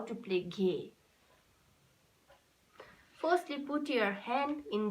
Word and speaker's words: Ghe: See here, Ghe, G-H-E, Ghe. We say this bowl, we pronounce this bowl as Ghe, Ghe.